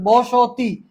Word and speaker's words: বস্তি: এখানে ভাবতে পারেন স্বরধ্বনি কোথায়, এখানে উচ্চারণটা খেয়াল করেন, বসতি, আমার এখানে কিন্তু একটা ও আসে, বসতি, ও বসতি, এখানে বস্তি, এখানে কিন্তু আপনি এই হসন্ত মানে কি, হসন্ত মানে এখানে থামা যাবে না, বস্তি জানলা, এখানে কিন্তু